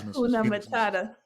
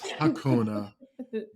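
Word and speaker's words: Hakuna Matata: all like, Phoenix, Phoenix Akuna Matata. Just loud And wrong Wow. And wrong boy. You don't know how to spell that. A K U N A. loud and wrong. Like, nah, bruh. It's Hakuna.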